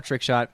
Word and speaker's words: TRKSHT: Look up for Trick Shot. It's spelled TRKSHT.